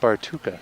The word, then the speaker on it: Bartuccia: Bartuka. Bartuka. Yeah, Lav is pronouncing it Bartuka, so we'll go with him.